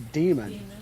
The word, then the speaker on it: Daemon: I was just saying, like, because I thought, this is funny, I thought the AE is supposed to be pronounced like an E. So it would be demon. Demon.